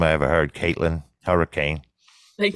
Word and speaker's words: Hourican: I ever heard Caitlyn hurricane thank it's and it's a real it's a real ass name it's not really spelled like hurricane but it's pronounced hurricane yeah it's Irish so